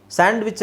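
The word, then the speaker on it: sandwich: necessary handsome hedge hedge ಸ್ಯಾಂಡ್ವಿಚ್ ಸ್ಯಾಂಡ್ವಿಚ್ ಅಲ್ಲೂ ಸಹ ಡಿ ಅವಶ್ಯಕತೆ ಇಲ್ಲ ಸ್ಯಾಂಡ್ವಿಚ್ ಸ್ಯಾಂಡ್ವಿಚ್ ಸ್ಯಾಂಡ್ವಿಚ್ ಓಕೆ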